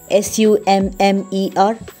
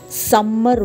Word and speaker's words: summer: We have to pronounce it as little, letter, button, mutton, S-U-M-M-E-R, it's not summer vacation, it's summer.